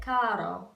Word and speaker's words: caro: some other places like caro, caro. And so instead of, it's actually closer if you say cado, cado with a D sound instead of an R.